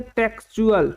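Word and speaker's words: textual: word क्या है हमारा टी आई एक्स टी यू ए एल इसमें क्या पढ़ेंगे टेक्सुअल टेक्सुअल जिसका हिंदी मतलब होता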